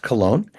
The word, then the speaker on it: Köln: The Köln Concert pronounced Cologne uh as in Cologne, Germany uh from Keith Jarrett.